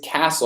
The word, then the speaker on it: castle: Mas em inglês, castle, a gente não se pronuncia. A gente não pronuncia o T, né?